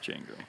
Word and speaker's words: Django: uh Great Gatsby Django Jango yeah that's Mr candy Jango is the G and that's Mr Gatsby the D is silent yeah something about the